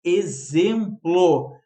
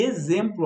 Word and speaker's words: exemplo: Por isso que exemplo, olha ali, a gente não se dá conta. Exemplo tem som de Z, mas é escrito com X, tá?